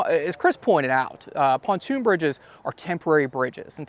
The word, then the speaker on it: pontoon: Chris pointed out uh pontoon bridges are temporary Bridges and technically they're they're pronounced ponton Bridges they're French in English we put two o's in there the French only have one these things date back